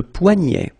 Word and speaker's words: poignet: Le poignet. Le poignet. So this combination of ET at the end will basically open the sound, so you get E, E, poignet. Okay, remember, G-N, N-N-N-N, poignet, le poignet.